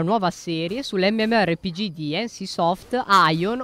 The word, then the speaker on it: Aion: Oggi iniziamo una nuova serie sull'MMORPG di NCSoft, Aion, oppure Aion con la pronuncia inglese.